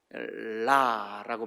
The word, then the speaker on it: 라: 라라고 발음을 애굽말로 라 그렇게 발음을 하는데 이 그 태양.